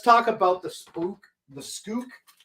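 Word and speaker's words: Pskook: Okay, let's talk about the spook, the skook. I think the P is silent, okay?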